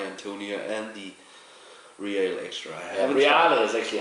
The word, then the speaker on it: Reale: Reale is actually how you pronounce it.